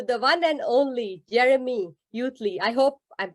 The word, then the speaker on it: Utley: one and only Jeremy youthley I hope I'm pronouncing your last name right you're doing great it's Utley Utley Utley okay Jeremy Utley he's